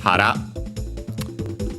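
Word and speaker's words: 腹: usual strictly Japanese reading would be hara, accent on the last syllable, so okay, correct.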